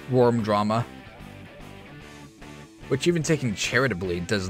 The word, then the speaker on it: Vvurm Drama: in the name that's still pronounced with a W you Philistine that is worm drama was spilled by someone